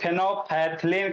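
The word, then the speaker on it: phenolphthalein: इसको फिनोफथिलीन। फिनोफ्थलीन कहेंगे। क्या कहेंगे? फिनोल हो गया। फिनोलफिल इसको बाबू शॉर्ट फॉर्म में फिनोफ्थलीन पढ़ते हैं।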